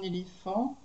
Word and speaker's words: éléphant: Ici vous avez un éléphant, donc vous avez le PH hein, qui se prononce feu, un éléphant.